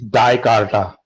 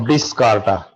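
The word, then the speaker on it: Dijkstra: The pronunciation associated with this particular algorithm is Dicarta or Discarta. J is silent.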